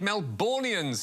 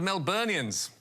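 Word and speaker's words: Melburnians: around this city yes anthony albanese said melbourne's instead of melbournians and the daily mail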